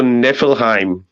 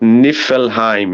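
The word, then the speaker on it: Niflheim: and then there's also nevilleheim pronounced nifelheim you know the word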